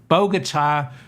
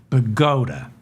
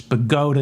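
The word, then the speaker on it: Bogota: previous Mercedes crashing into a pedestrian in bog Bogata New Jersey and killing him I shouldn't have laughed I mispronounced bogot Boda I'm from New Jersey and they pronounce it bota it's bota New Jersey not bogot bot all right the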